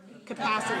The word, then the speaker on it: capacity: forceful independent okay good how about this one capacity capacity how many syllables capacity four syllables right where's the stress second okay so that one